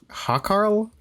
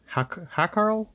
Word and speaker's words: Hákarl: Yeah, it's like HA with an accent, KARL. Hákarl? Hákarl? I don't know. Hákarl.